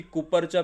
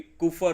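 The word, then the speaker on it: Kupffer: यामध्ये आढळतात कुपर cells याला क्च्युली कुपर सेल्स म्हणतात ते मराठीमध्ये कुपर अस प्रोनन्सिएशन आहे ओके याच उत्तर असेल यकृत लिव् लिव्हर मध्ये कुफर सेल्स पाहायला मिळतात डायग्राम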